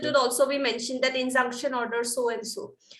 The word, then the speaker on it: injunction: come and put this conjunction. How to pronounce this, ma'am? Injunction. Injunction.